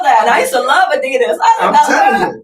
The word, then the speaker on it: Adidas: if you are always thinking about sex, Adida is the correct pronunciation, Mhm. but it's Americanized Yeah. Adidas.